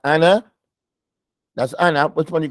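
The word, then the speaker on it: أنا: the book of Allah is no elongation it's not Anna even though the elephant's there and uh it's Anna it's Anna it's Anna it's not Anna there's no elongation to it Anna that's how you say it in Arabic Anna you don't elongate it you don't elongate it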